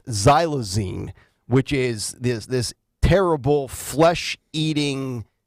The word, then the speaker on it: xylazine: I believe it's pronounced xylazine, which is this terrible flesh-eating, destroying of your body drug.